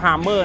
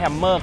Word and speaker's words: Hamer: ลักษณะ ตัว H ครับ อ่าน ว่า harmer นะ ไม่ ใช่ Hammer cost นะ ครับ อ่าน